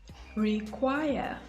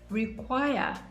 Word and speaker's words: require: verbs with two syllables the stress is usually placed on the second syllable let's look at some examples require require of course require is